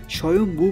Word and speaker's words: স্বয়ম্ভু: হয়েছে মঙ্গোলিয়া রাষ্ট্রীয় ধ্বজা স্বয়ং নামে পরিচিত যা সেখানকার অধিবাসীরা স্বয়ম্ভু বলে উচ্চারণ করে থাকেন এটা তো আপনারা সকলেই জানেন